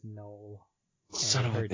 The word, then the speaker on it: Noel: The fact that it's pronounced Noel instead of Noel, the way it's spelled. I don't know if it's Noel or Noel. I don't care. It is Noel.